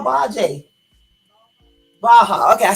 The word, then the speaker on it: Baja: Well, how do you pronounce that? The area I was saying earlier when I called it Baji. The area that I call Baji. Baja.